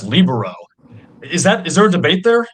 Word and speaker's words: libero: I was at a party with a couple ex-presidents, and I pronounced it libero, and they said, "Oh no, Mr. Alvarez, that's libero."